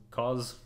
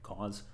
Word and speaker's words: Coz: is a profiler called cause um spelled coz but pronounced like cause and it does a